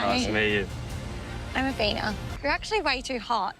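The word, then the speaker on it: Awhina: It's written like Awena though, but it's pronounced Athena.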